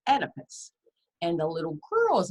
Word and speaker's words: Oedipus: The O is silent, but it's Oedipus.